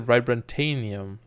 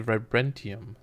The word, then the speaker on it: vibranium: By the way, someone told me I keep pronouncing vibranium wrong. I said vibrantanium. It's actually vibranium.